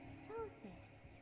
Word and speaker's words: Sothis: Well, that fixes the pronunciation issue. Sothis.